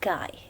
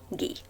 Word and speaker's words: Guy: is a french writer we don't say guy instead we say gee in this story we